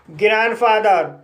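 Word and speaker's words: grandfather: ग्रैंडफादर ग्रैंडफादर में पहला syllable N डी से समाप्त हुआ है और दूसरा सिलेबल कंसोनेंट एफ से शुरू हुआ है। इसलिए डी साइलेंट है। इसलिए इसे ग्रैंडफादर पढ़ा जाता है।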